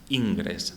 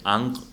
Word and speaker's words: Ingres: de los maestros antiguos yo voy a pronunciar como lo como lo he pronunciado toda mi vida en la carrera ingres sé que es ang pero me me me cuesta me cuesta meter ahí la gr francesa ingres de acuerdo ingres